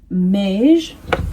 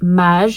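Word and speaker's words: Maje: So this is from the brand Mage. I think that's how you say it in English, but we say it Mage in French because it's French.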